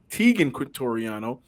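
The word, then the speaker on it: Teagan Quitoriano: Tegan Quintoriano.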